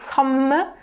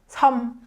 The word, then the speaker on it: 섬: It's not 섬, but you really have to cut that m sound at the end and just say 섬.